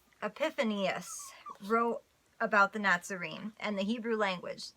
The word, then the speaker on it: Epiphanius: fourth Century circus father epiphany of f or wait sorry I'm mispronouncing epiphanius wrote about the Nazarene